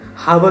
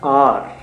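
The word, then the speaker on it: hour: हावर बोलते हैं। बच्चे उसको मिस प्रोनाउंस कर जाते हैं। एच ओ यू आर होता है आर। आर बोलते हैं बेसिकली।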